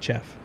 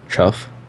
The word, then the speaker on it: chaff: we don't pronounce Chaff. it chuff. It's Chaff. chuff is the noise that tigers make.